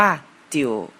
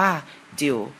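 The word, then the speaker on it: 九: นะ ครับ เลข 9 ภาษา จีน อ่าน ว่า จิ๋ว เขียน คล้าย ๆ กับ เลข 8 นะ ครับ เริ่ม จาก ทาง ซ้าย แล้ว ต่อ ด้วย ขีด ทาง ด้าน ขวา ครับ ภาษา จีน อ่าน ว่า จิ๋ว แปล ว่า เลข 9 ครับ เลข สุด ท้าย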